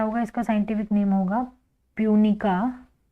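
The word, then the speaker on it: Punica: scientific name क्या होगा इसका साइंटिफिक नेम होगा पूनिका पी यू एन आई सी ए पूनिका ग्रेनेटम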